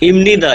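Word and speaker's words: 입니다: ইমনিদা। ইমনিদা। ইমনিদা। ইমনিদা। ওরা নিয়ন থাকলে ইমনিদা। ইমনিদা। এই যে হ্যাঁ, বিয়ে পর পরে ইমনিদা। নিউন আছে, এজন্য বিয়ে পর উচ্চারণ ম জি।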